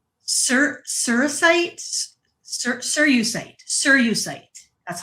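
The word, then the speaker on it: cerussite: It's called sir sirite sirusite sirusite that's how you pronounce it.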